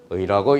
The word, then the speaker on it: 의: 저는 편의상 다시라고 읽지만 읽을 때는 의라고 읽는 거야.